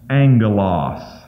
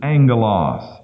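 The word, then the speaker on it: ἄγγελος: word Angel and that when you have a double g in the Greek it's pronounced with an N Angelos so that's how it's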